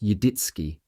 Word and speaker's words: Yaditzki: He was referring to the family name Yaditzki, pronounced Yidditski.